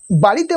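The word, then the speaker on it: ب: বা, এই বায়ের মাখরাজ হচ্ছে দুই ঠোঁটের শুকনো অংশ হইতে উচ্চারণ হয়। দুই ঠোঁটের শুকনো অংশ, এই দুই ঠোঁটের শুকনো অংশ। বা, বা, আমার ঠোঁটের দিকে দেখুন, বা।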